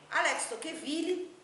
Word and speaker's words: Tocqueville: Alex Tocqueville é a maneira como nós pronunciamos o nome dele aqui no Brasil, em língua portuguesa, no caso.